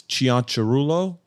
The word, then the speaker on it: Cianciarulo: actually say it okay so the Italian proper way to say it is chian Chulo but in America we